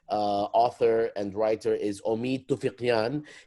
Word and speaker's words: Toufiqian: And our guest author and writer is Omid Toufiqian. He told me that we pronounce it like we do in Arabic with a qaf, and I was really impressed.